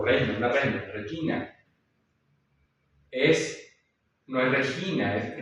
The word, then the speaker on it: regina: Regina es, no es regina, es regina.